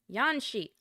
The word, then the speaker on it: Yan Shi: Name pronunciation. Yanxi.